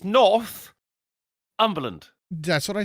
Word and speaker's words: Northumberland: It's Northumberland. That's what I said. Northumberland. Oh. It's not what you said. I'm putting the emphasis on the right syllable.